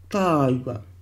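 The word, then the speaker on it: tāua: 타우가, 타우가, 타우가. 이렇게 좋은 발음은 도저히 흉내낼 수가 없습니다.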